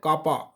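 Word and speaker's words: kappa: उसका सिंपल लिखते हैं हम के, जिसको हम प्रोनाउंस करते हैं कापा।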